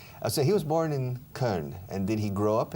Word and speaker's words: Köln: How do you say Cologne in German? Köln. All right. Colonia. Okay. Now, for example, the cologne you wear, is that Köln too?